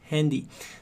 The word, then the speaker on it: Handy: E a gente fala com essa pronúncia um pouco mais americanizada, porque é uma palavra importada, digamos assim, das Handy.